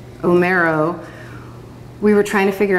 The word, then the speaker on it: Omero: odyssey and the iliad because omero is how you say homer in italian and then they i